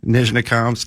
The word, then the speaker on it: Nizhnekamsk: You're never going to pronounce that name. No. How do you say that one? Nizhnekamsk, Neftahimik.